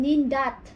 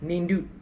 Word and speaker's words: nindut: Yeah, I heard you saying nindat because in English it's dots. Yeah. When you read this one, dots, right? So just remember what word or what's that? What you read is the pronunciation because our alphabet is a, e, I, o, u, ba, be, bi, bu, bu, ka, ki, ki, ku, ku, like that. So nindut. Yeah, nindut.